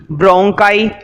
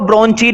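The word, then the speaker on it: bronchi: passage, comma, trachea, comma, ब्रोंकाई, ब्रोंकाई बोलते हैं इसको, ब्रोंची नहीं बोलते, कभी ब्रोंची कर दो,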